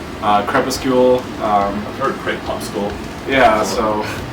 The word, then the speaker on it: Crepuscle: Crepuscle, just because they don't know it's a soft C. Crepuscle.